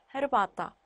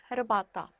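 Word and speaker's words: herbata: 하 역시 하 발음 그대로 해줍니다. 뭐 불어 배우신 분들이나 다른 언어 배우신 분들은 묵음인 줄 아시는 분들도 계시는데 폴란드어는 그대로 발음을 해주셔서 헤르바타, 헤르바타, 호텔, 호텔 하 발음 그대로 해주시면 됩니다.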